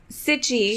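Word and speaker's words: Cichy: pronounce that he said some people are making it sound like peachy that's not right it's - itchy Oh City my apologies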